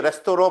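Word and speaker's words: restaurant: क्योंकि फ्रेंच में लास्ट का लेटर प्रोनाउंस नहीं होता है ना। जैसे देखो, जैसे किसी लड़की का नाम ना ये है, उसको मेगेली पढ़ेंगे, वो मेगेले नहीं पढ़ेंगे, ध्यान देना, ये है, इसलिए रेस्तोरों पढ़ते हैं उसको, रेस्तोरों, रेस्टोरेंट नहीं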